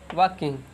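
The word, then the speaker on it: walking: किंग यह जो है का वाल्कइंग लाल जो है साइलेंट हो जाता है इसको पढ़ा जाता है वर्क इन टू-डू एग के आईएनजी वाकिंग थर्ड एग्जांपल जैसे क्यों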